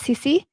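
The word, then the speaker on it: Cici: then uh go ahead yeah yeah my name's CeCe CC how do you spell it c-i-c-i CC CeCe lovely go ahead CeCe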